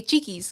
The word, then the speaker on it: Cheeks: Isabel says, "It's pronounced like cheeky but with an S." Okay, Cheeks.